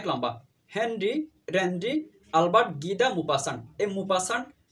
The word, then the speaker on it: Maupassant: তার পুরো নাম হচ্ছে অনেক লম্বা, হেনরি রেনরি আলবার্ট গিদা মুপাসান্ট। এই মুপাসান্ট বা মুপাসা বাংলার মধ্যে এই নামের বানানটা পরীক্ষার মধ্যে আসে।